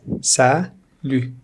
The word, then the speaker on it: salut: Salut, salut, salut. T is silent here.